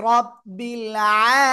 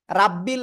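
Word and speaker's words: رَبِّ: বিসমিল্লাহির রাহমানির রাহিম বিসমিল্লাহির বিসমিল্লাহ মাশাল্লাহ মাশাআল্লাহ আলহামদুলিল্লাহি রাব্বিল আলামিন জোরে জোরে বলেন আলহামদুলিল্লাহি দেখেন এখানেও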